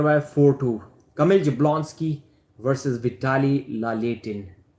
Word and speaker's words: Vitaly Laletin: Kamil Jablonski versus Vitaly Laletin. If I pronounce it in Russian accent, they'll say Vitaly Laletin. It's almost the same.